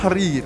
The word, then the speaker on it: Tahrir: Bon, Barry pourra mieux prononcer que moi. C'est la place place Tahrir. Tahrir.